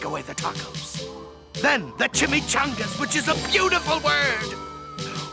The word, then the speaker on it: chimichanga: Oh, well, it's pronounced chimichanga.